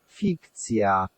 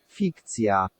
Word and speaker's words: fikcja: So fik and the I sounds like in ski. Fikcja. Fikcja.